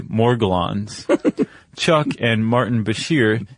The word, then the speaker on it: Morgellons: Um what we're talking about is I say Morgellons. Chuck and Martin Bashir say Morgellens. Yeah. I saw on some pronunciation site Morjellens, but uh we're both going to make a hard G sound.